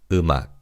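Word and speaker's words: 음악: And as you could hear in terms of pronunciation, the bachim in the first syllable carries over to the second syllable. So this word is pronounced as umach.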